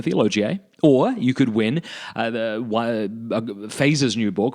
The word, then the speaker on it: Feser: And as I always tell people, you can just think of Star Trek. Set your phasers on stun.